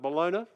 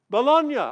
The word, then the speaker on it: Bologna: It's called Bologna, I think it might be pronounced, an Italian word, Bologna. Bologna.